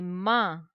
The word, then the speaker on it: mains: Les mains. The sound AIN, un, ma. The last letter S, silent. Les doigts.